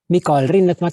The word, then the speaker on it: Mikael Rinnetmäki: the international patient access specification who am i mikhail rinnett is how i pronounce my name i'm a founder of the